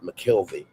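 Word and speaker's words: McKelvey: I'm Lonard McKelie. He adds to his real name, emphasizing the second syllable of his last name.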